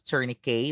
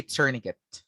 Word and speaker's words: tourniquet: yes you heard me right it shouldn't be pronounced as tourney k but rather cerniket by taya guys everybody say tourniquet i am grateful so it should be tourniquet